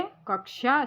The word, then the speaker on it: कक्षा: का और शा इन 3 व्यंजन से मिलके कक्षा शब्द का शुद्ध उच्चारण दोस्तों बनता है और शेष विकल्पों के